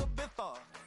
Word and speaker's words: Ibiza: Yeah, it's pronounced Ibiza, actually. What's the difference, man?